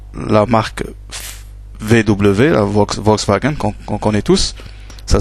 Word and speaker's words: Volkswagen: Donc le U se prononce ou le V en allemand se prononce F. Donc ici ça se prononce FAO. C'est un FAO. Par exemple, la marque de voiture Volkswagen, ça ça se prononce Volkswagen.